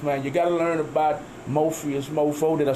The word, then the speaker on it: Mofias: You gotta learn about Mofias, Mo4. Did I say it right that time? Yeah, you said man. It absolutely right that time. You gotta learn about the Drip Squad, Mofias, right.